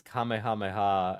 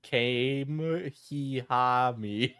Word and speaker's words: Kamehameha: Desintity openly calls me restarted on Bowblax sounds like he pronounces Kamehameha as Kame-he-ha-me.